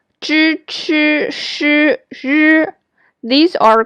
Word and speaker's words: zh: Zh is similar to the sound of DGE in judge.